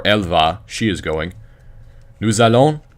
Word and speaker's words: nous allons: Nous allons, remember to pronounce the S because there's the vowel.